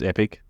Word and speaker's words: epoch: you say it yeah I asked that the Canadians and the Americans it's epic but for us it's Epoch I think you in